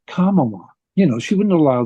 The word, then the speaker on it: Kamala: And I mean, think of if we were in the second grade, the teacher would be saying, it's Kamala. You know, she wouldn't allow the kids to mispronounce it.